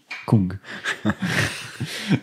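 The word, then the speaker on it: !Kung: alors, ça s'écrit point d'exclamation Kung, et ça se dit Kung, du désert.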